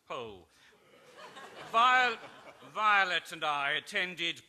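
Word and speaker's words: Powell: snobbish uh English novelist Anthony pole pronounced pole VI Violet and I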